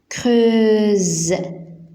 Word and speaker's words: creuse: On creuse. Donc S entre deux voyelles se prononce Z. Donc S entre U et E. Alors Z. On creuse la terre.